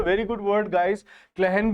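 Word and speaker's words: clachan: क्लहन भी होता है एक नगरी को ही हम कहते हैं। इसकी स्पेलिंग आप अच्छे से देखिए।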